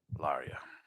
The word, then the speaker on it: Larja: Larja? Laria. Laria. Laria. I mixed that into a J. Well, it is a J. Oh, Use okay. European pronunciation. Laria.